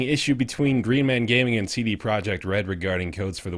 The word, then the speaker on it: Projekt: CD Projekt. Oh, Projekt. Projekt. My bad. Oh, wow, you guys are being so racist. That's Polish pronunciation.